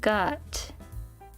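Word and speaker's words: 五: And this means mind, will, heart, or meaning, which is pronounced as I. And then we've got whoop.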